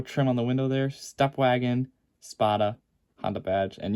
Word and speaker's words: Stepwgn: on the window there Step Wagon spada on the badge and yeah and before people ask it's it's spell s-t-e-p-w-g-n but it's pronounced step wagon that's always confused me